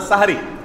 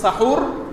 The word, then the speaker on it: সাহারি: শব্দটা হবে হয় সাহুর আর না সাহারি। হয় বলবেন সাহুর, আর সাহুর বলতে যদি কষ্ট হয় দরকার নাই, তাহলে সেহরি না বলে সাহারি বলুন, দন্তের উপরে আকার দিয়ে দেন, বাস হয়ে গেল। তাহলে বিশুদ্ধ উচ্চারণটা হবে।